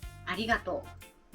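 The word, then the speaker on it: ありがとう: これは Thank you、 Gracias、ありがとうです。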